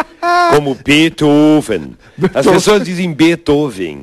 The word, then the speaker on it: Beethoven: As pessoas dizem Beethoven. E como é o certo? E não é. Beethoven. Você fala assim? Claro, Beethoven. Essa é a pronúncia alemã.